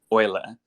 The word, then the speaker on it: Euler: to be onboarded to Euler Finance yes that is the correct way to pronounce that even though it's e-ul uh and oil effects